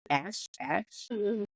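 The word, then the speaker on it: Asth: I would say that's pronounced A-S-T-H as Ash.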